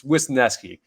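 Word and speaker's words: Wesneski: facing a guy Hayden winki wineski wineski I mean there's a bunch of different ways I could potentially pronounce his last name it's wisneski but the reason that I'm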